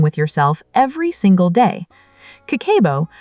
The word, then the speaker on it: kakeibo: Kakeibo, pronounced kakeibo, is a Japanese household budgeting method that